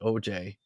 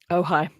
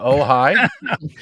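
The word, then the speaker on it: Ojai: church of OJ is that really how it's pronounced OJ in California oh high that's pretty oh is it oh high is it OJ AI yeah yeah that's the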